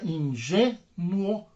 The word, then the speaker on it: ingênuo: G é a sílaba tônica, ingênuo.